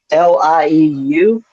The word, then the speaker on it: Lieu: Uh, We got Representative Lou. How do you pronounce his name? Lieu.